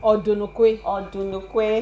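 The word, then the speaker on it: Odunukwe: Yeah, so I pronounced it wrongly. I'm going to say Odunlekwe. You have to pay for that. Biodun Odunlekwe.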